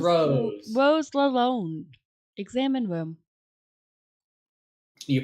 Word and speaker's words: Lalonde: I think it's French. In French, the on sound is on. No, actually, it's on. It's on in French. Lalonde, which that makes sense.